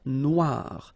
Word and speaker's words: noire: Then here, la mer Noire. Same thing here that we had previously. Final not pronounced, okay? And then OI, remember, wa, noir, noir.